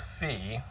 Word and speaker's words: Phi: It's like the Greek symbol, isn't it? So not at all.